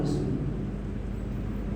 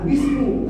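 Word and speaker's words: بسم: G makanya memangai kalimat Bismi dia baik kenapa Ismu jadi Ismi tadi karena memakai huruf ba kalau BA pasti itu bukan bismu tapi bism maka cara membacanya Alba haru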